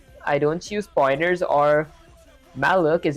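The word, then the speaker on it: malloc: Uh when I code and see I don't use pointers or malook is how you pronounce it.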